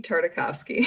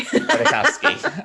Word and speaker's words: Tartakovsky: Then in 2003, there was a series of webisodes, animated shorts by, I always forget how to pronounce his name. It's Gendy Tartakovsky. Tartakovsky.